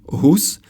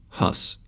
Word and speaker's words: Hus: Let's first understand why you read this as Jan Hus and not Jan Hus.